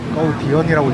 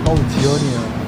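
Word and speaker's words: Cầu Diễn: 거우디언이라고 읽지 마세요. 거우지연이에요.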